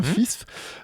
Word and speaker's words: FISF: Alors attention, faut bien prononcer le F à la fin. FISF.